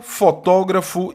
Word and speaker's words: fotógrafo: É correto afirmar que, nos termos antropólogo e fotógrafo, a sílaba tônica recai na penúltima sílaba. Falso. Antepenúltima. São palavras proparoxítonas.